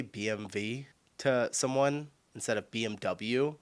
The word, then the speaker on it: BMW: In English, people say BMW. BMW. In German, we say BMV because W is pronounced V in German and it stands for Bisha Motor, which means Bavarian Engine works.